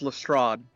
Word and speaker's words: Lestrade: of this fifth trial um huh what it's pronounced lestrade who cares same thing uh basically so her